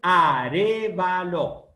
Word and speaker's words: Arévalo: Primero, mi apellido es Arévalo. A-R-E, B corta, acento en la E, B corta, A-L-O, Arévalo.